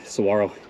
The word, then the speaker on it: saguaro: last ascent right there those are saguaros hey don't ever say that again Saguaro the G is silent so ahead of us